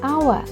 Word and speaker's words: hour: Але в англійській мові є дуже дивна буква H, адже в деяких словах вона не читається. Наприклад, it's an hour - це година.